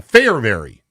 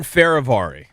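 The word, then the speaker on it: Fehérváry: So, am I saying it right? Martin Farvari. Nope. Go ahead. Martin Farravari. Farravari. Yeah, Farravari.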